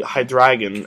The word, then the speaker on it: Hydreigon: Not really useful on the Hydreigon, as it's actually pronounced.